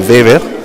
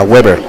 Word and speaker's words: Weber: Sí, fíjese, los alemanes que emigraban a Estados Unidos cambiaban su nombre de Weber a Weber. Es como la web, que es la red de internet. Web en alemán es una red o un tejido, pero la pronunciación en alemán es Weber.